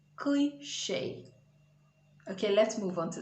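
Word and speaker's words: cliché: do well sorry tomorrow in english that word is cliche so the stress is on the first syllable and not cliche that's okay if it's french but in english it is cliche okay let's move on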